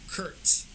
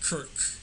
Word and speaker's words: Kirk: He kept calling them Kurtz instead of Kirk, and Kirk Cousins, he's been in the league since 2012.